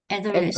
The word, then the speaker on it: adolescence: 아돌러센스, adolescence, 에 발음입니다. 애플 할 때처럼 에 발음이에요. adolescence. 애돌러센스, adolescence, 네, 청소년기, 사춘기라고 해서 puberty랑 똑같은 의미를 가지고 있습니다.